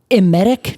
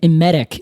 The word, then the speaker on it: emetic: And it's like emit is like in the word. Except it's spelled with an E. So an emetic is something that makes you emit, which I thought was fun.